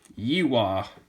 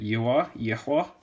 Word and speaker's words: Yihua: So this is a Yihua, I think is how you say it, Yihua.